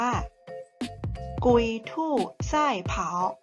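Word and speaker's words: 龟兔赛跑: ว่า กระต่าย กับ เต่า ภาษา จีน ออก เสียง ว่า กุย ทู ไส้ เผา เรา มา รับ ชม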